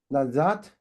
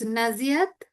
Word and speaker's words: Naziat: I saw we got two new people here, Yu Zhang and also Nazat. Do I pronunciation is correct? Yeah. Yeah, it's Naziat, but you can call me.